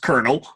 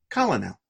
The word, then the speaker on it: colonel: self how Co l om e L is pronounced Colonel there's a lure in there how do you pronounce the L Colin L always blew my mind as a kid because